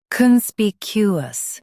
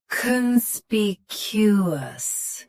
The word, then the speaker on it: conspicuous: Conspicuous. Both US and UK have the same pronunciation of this word. Stress spe. Keep con soft and cue clear. Conspicuous. Conspicuous. Stress spe. Keep con soft and cue clear.